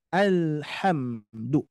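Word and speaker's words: الْحَمْدُ: jangan sampai memantul ya ini seringkiali terdengar alham alham bungan Al tapi alhamdu ya alhamdulillahibilamin alhamdu dijaga ya jangan sampai lamnya mantul jangan sampai mimnya juga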